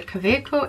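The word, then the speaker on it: Kaweco: I use the Kaveco ink cartridges. I also have loads of these cheap ones, but Kaveco black ones are really good. They're a German brand, hence the weird pronunciation.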